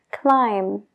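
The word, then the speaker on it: climb: se pronuncia la B es cuando viene después de una m como en las palabras clim de escalar clim Sam de pulgar thum entonces paramos la palabra justo donde está la m ignora la B completamente a la hora de pronunciarlo pero no te olvides de escribirlo eh lam de cordero lam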